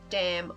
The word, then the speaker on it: damn: but it's cross syllabically you do not pronounce both the m and m in damn on its own and in lemon you currently